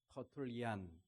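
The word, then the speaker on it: Tertullian: 터툴리안, 이 영어식 발음이고요. 라틴식 발음은 터툴리아누스 이렇게 발음을 합니다.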